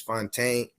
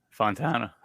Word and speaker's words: Fontana: today I have Mr Chris fontain is that how you say it Fontana Fontana I'm sorry I messed